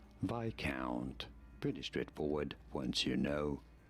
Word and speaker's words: viscount: On the I syllable. Viscount.